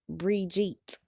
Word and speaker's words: Bridget: I didn't know up until then that the white bitch's name was Bridget, which they pronounced like Brigitte.